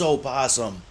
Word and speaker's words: opossum: where you live yes i know it's spelled opossum but nobody says opossum and if you live